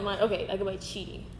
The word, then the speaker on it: Chidi: Okay, I go by Chidi.